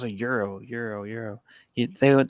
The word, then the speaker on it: gyro: oh no it's a euro euro euro you they would they like they don't they don't accept that you say gyro it has to be euro oh yeah so yeah